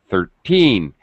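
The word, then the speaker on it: thirteen: is um the word stress is on teen 13 it's higher pitch it's stretched it's a little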